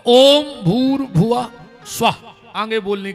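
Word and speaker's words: भूर्भुवः स्वः: हमें जोड़ के बताओ अपन बोला ओम भूर्भ स्वाहावर इसमें एक शब्द कम पड़ रहा गायत्री का सही उच्चारण है ओम भूर भुव स्वाहा ओम पर ओम कोई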